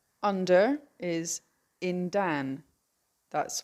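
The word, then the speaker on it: yndan: In Cornish, it's spelled Y N. On is W. W A R. Under is in dan.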